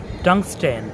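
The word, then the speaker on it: tungsten: এমনই আরও একটা শব্দ হচ্ছে টাংস্টেন। আমরা কিছুক্ষণ আগে জেনেছি যে শব্দের শেষে STEN থাকলে সেখানে আমরা টি এর উচ্চারণ করব না, কিন্তু এখানে আমরা টি এর উচ্চারণ করছি। টাংস্টেন, এখানে STEN থাকা সত্ত্বেও টি এর উচ্চারণ হচ্ছে।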